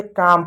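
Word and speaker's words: calm: तो इसको क्या पढ़ेंगे, काम पढ़ेंगे, काल नहीं पढ़ेंगे क्योंकि एल साइलेंट होता है, काम।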